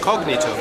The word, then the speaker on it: cognito: they put the emphasis on a different syllable so this is cognito but in the often markets so the accent comes on the cog you